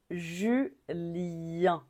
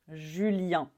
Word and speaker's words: Julien: plutôt courant même aujourd'hui on dit Julen Julien on finit encore avec une voyelle nasale un Julien Julien alors